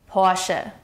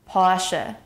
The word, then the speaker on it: Porsche: In German, the stress is on the first syllable. Porsche. Porsche.